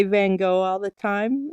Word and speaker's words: Van Gogh: version of almond blossoms almond blossoms created by van gaach is how it's actually pronounced more even though i say van gogh all the time it's really benga bengal that's